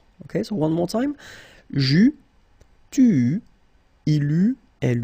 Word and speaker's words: j'eus: Final S not pronounced.